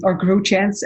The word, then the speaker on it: Grootjans: Well, in Dutch you say Grootjans, and it means like groot means big, and tall.